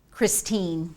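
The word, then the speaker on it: Christiane: I think she pronounces it Christine, even though it's spelled that way, Northrup.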